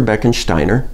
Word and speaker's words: Beckensteiner: His name is Inspector Beckensteiner, which happens to rhyme with minor and serves me well.